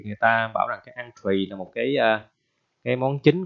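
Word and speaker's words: entrée: À, bạn đọc là en hay là in cũng không phải ha, bạn đọc là ăn, entree, entree, ok chưa?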